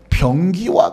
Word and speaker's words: 병기: 보면 우리를 뭐라고 말하냐면 병기와 같다라고 하는 표현을 씁니다 발음을 잘하시는 변기가 아니라 병기 변기 다른 말로 표현하면